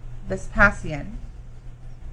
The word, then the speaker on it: Vespasian: Emperor Vespasian. That's what you just said. Are you going with that pronunciation?